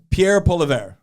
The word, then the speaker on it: Pierre Poilievre: Pierre Poilievre. Yes, I believe that's how it's pronounced.